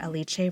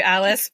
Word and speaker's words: Alice: chat with recreational Runner aliche Roso aliche welcome to the E for endurance podcast and I'm very glad I just checked how to pronounced your name I almost called you Alice but we we uh